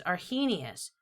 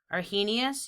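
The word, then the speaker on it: Arrhenius: to learn about is our he Gnaeus our he Gnaeus you say it like he was a genius a genius came up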